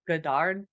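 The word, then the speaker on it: Godard: last name but Jean-Luc gadard Jean-Luc gadar sounds like Jean-Luc Picard there you go see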